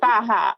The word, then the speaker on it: faja: Colombia and the reason we're all calling it faah which by the way if you say FAA stop it no way there's people calling it that by the way I hear that so faah that's the proper pronunciation but obviously the word